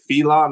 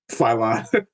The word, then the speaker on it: Phylon: Do you pronounce it Felon or Phylon? Phylon.